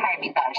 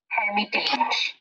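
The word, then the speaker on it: Эрмитаж: আমি বলছিলেন একবার জাস্ট শব্দটার প্রোনাউন্সিয়েশন হারমিতাস, কিন্তু স্পেলিং কিন্তু হারমিতাস না, স্পেলিং কিন্তু ভিন্ন, স্পেলিং কিন্তু যেটা সেরকম ভাবে ইংরেজিতে উচ্চারণ করলে শোনাবে হারমিটেজ, হারমিটেজ মিউজিয়াম, কিন্তু এটা কিন্তু একটা রাশিয়ান ওয়ার্ড এবং প্রোনাউন্সিয়েশন কিন্তু হারমিতাস, এই দেখেন এই যে ডিফারেন্সটা। তারপর ধরেন একটা বিখ্যাত প্যালেস,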